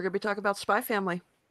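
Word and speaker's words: Spy × Family: to be talking about spy family it's my family the x is silent that's going to be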